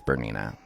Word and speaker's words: Bernina: You know, it's Bernina.